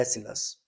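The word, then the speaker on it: Aeschylus: इसको प्रोनाउंसिएशन इसका होता है एसिलस, और लिखा होता है एस्किलस।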